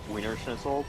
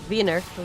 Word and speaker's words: Wiener Schnitzel: You gotta get the Wiener Schnitzel. Wiener Schnitzel. Wiener Schnitzel. Wiener Schnitzel. Wiener Schnitzel. It's not Wiener Schnitzel, it's Wiener Schnitzel.